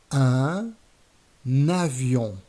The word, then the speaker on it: un avion: a liaison, which is we're going to link the article with its noun by adding an N sound at the beginning of the noun. For example, un avion, un éléphant, un hélicoptère, un ordinateur.